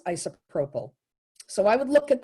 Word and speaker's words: isopropyl: But I always, in my head, thought it was isopherol.